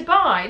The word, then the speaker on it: Dubai: I say Dubai, not Dubai. Dubai, not Italians or Iraq.